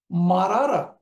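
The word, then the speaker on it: مرّ: মারারা আমরা উচ্চারণ করব মাররা।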